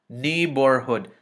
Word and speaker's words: neighborhood: Oh, this is a G, and in the, between a G and an I and an H, the G is silent, so this is ni.